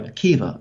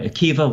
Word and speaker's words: Akiva: go back to rabbi akiva very big name obviously i'm sure most people watching are familiar with rabbi akiva once again spelled with a b a at the end but pronounced with a v and the goal of